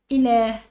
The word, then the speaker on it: إله: إله فيها ألف ينطق ولا يكتب، محدش يكتب الألف اللي بعد اللام.